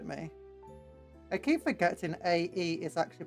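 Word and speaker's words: Aegis: I keep forgetting a e is actually pronounced e like e just which means sued it's not agis it's Eis they can't post in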